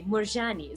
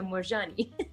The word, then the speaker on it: Moorjani: but um but yeah i also think it sounds better and like more european to say murjani so i say richa morgani yeah with a ch it's like middle eastern european it's just like milan beirut cool man yeah totally